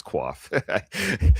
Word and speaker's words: coif: Well, he's got a better sorry, I pronounced it wrong. Thank you, but it's quaff. I love how Badizi knew what I meant, but I did pronounce. Do you know what the order of the coif is?